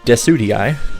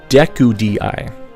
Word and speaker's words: Decidueye: Well, Rowlet's final evolution, Decidueye, I can never pronounce it. I would always misread it as Dekudii.